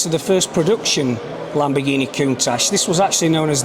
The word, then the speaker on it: Countach: It's pronounced Countach, and in the dialect of the area, Countach is an exclamation.